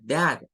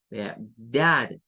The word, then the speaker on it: dad: Dad es dad, no es dad, así como nosotros diríamos dad, es dad, dad. Por eso es que nosotros escuchamos que ellos pronuncian muy diferente algunas palabras, porque ellos hacen otros sonidos que nosotros no tenemos.